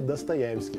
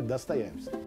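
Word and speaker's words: Достоевский: Eu cresci com Dostoiévski, mas na verdade é Dostoiévski que se fala, né? É porque em russo o O só é pronunciado assim quando ele é acentuado. Quando ele é átono, ele é A, então é Dostoiévski.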